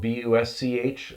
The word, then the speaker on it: Busch: Busch is spelled B-U-S-C-H, like the beer, not like the shrub.